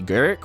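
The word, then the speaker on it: Garruk: get a four loyalty garrick or garuk however you want to pronounce it plus one up to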